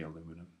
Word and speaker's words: aluminum: The British say aluminium. We say aluminum. Okay.